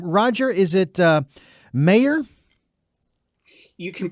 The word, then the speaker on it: Meagher: the first name and Meagher is the last name.